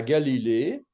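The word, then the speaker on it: גליל: bas on a la Galilée la Galilée se dit Galil Galil avec un Patard unique et un iode Galil donc la lettre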